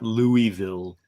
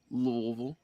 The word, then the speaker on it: Louisville: looking on a map louisville no no no it's pronounced louisville yeah thank you teaching